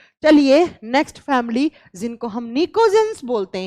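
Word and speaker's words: pnictogens: ये बात आप नोट कर लीजिएगा, लिखा जाएगा पी से, प्रोनाउंस किया जाएगा एन से, निकोजेंस।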